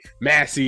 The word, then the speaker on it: Massey: how that's new york is talk we say massey and stuff like that so yes sir you're